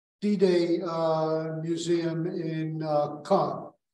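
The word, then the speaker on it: Caen: uh Museum in uh Khan It's c-a-e-n but it's it's not con it's not there are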